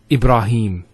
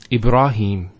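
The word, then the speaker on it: إبراهيم: here Heba a rah notice here the rock that ha followed by the Elif once again it's a a long vowel e brah no II bruh libera libera and then him Ibrahim he the Hat has a Kara followed by the air so here is the elongation of the e sound its he him Ibrahim similarly here we have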